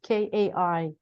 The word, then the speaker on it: Kai: Kai, his name is Kai.